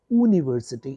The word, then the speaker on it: university: university it is not university it is university since the sound ya or you is a consonant you can't use and